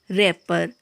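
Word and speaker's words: wrapper: डब्लू वहाँ भी silent होता है जब कभी भी आर से पहले डब्लू आता है, वहाँ पर जो है डब्लू साइलेंट होता है, जैसे कि wrong, रैपर, wrinkle, wrist, right, Regal, wrench, rack, wrath.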